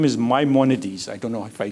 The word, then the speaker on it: Maimonides: He says there are 8, his name is Maimonides. I don't know if I pronounce it correctly. Jeff? Maimonides, perfect.